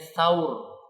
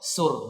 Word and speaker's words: Thaur: Orang-orang menyebutnya, para ulama menyebutnya Thaur. Kita agak sulit maka bacanya apa? Thur. Orang Indonesia menjadi apa? Sur, enggak ada sa-nya.